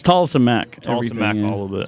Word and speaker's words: Tolleson-Mack: Yeah, it's Tolleson-Mack. Tolleson-Mack, Everything, all of it. Spell that.